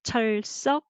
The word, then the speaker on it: 철썩: 자, I will say 철석, 철석. Okay, so you can just write two syllable. 철석. Okay, try again. 철석, 철석, 철석. Okay, that is the sounds of a wave. Okay, 철석, 철석, and 철석.